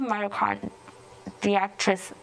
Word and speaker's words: myocarditis: The doctors did find an increased rate of myocarditis that's the correct pronunciation, among young men.